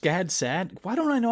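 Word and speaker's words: Gad Saad: the parasitic mind by god sod is just gad sad why don't i know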